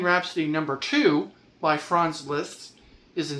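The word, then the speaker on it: Liszt: France list France I'm sorry France list. Say it correctly. France list. L I sz.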